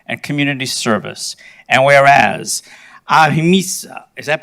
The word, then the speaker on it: ahimsa: And whereas ahimsa, is that pronounced ahimsa?